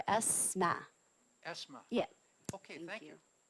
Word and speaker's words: Asma: Is that ASMA? That is correct. Okay. It's ASMA, and it's pronounced like the letter ESMA.